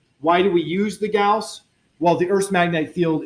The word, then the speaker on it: Gauss: is the gas and I've always really clearly pronounce this word Gauss it was Carl Friedrich Gauss is last name not gauze and one Gauss is